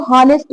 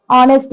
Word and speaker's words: honest: with vowel sound क्योंकि यहाँ पर जो एच है वो साइलेंट माना जाएगा बट बहुत लोग इसका गलत जो है प्रोनाउंसिएशन करते हैं इसको हॉनेस्ट बोलते हैं बट इसको हम ऑनेस्ट बोलेंगे यहाँ पर एन इसलिए लगाया